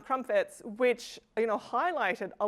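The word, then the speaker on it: Crompvoets: sorry ahead of time Crump voits crumpets thank you um crumpets which you know highlighted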